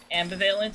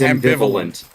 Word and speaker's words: ambivalent: said it like that that is not how you say it is this another word I've been pronouncing wrong yes it's ambivalent bro how many words have